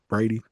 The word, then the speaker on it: Brady: I believe Braden Bennett. Did I say Oh, his name wrong? Brady. Brady. Brady Bennett.